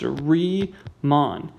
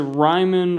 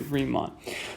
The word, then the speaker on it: Riemann: how to pronounce this guy's name it is pronounced re mon if you pronounce it ryman or reman or whatever i will kick you out of the math party forever respect the man pronounce his name correctly riemann so basically here's what riemann sums allow you